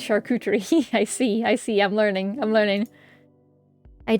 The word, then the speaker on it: charcuterie: It's pronounced charcuterie.